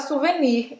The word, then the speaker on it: souvenir: Talvez você fale souvenir em português, mais parecido com o francês. Mas eu aprendi a falar em português souvenir, não falava esse R.